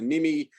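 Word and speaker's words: NMI: left is called the national metering identifier the nimi is that's pronounced nimi that's what it's called it's not really useful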